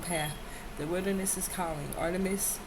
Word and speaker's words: Artemis: Artemis, pronounced Artemis, Diana to the Romans, is the Greek goddess of the wilderness, nature, and childbirth, and the moon.